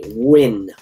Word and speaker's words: Nguyen: That's how you pronounce that, by the way. Nguyen.